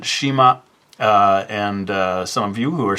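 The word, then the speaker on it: 島: And in Japanese, you would pronounce it Shima.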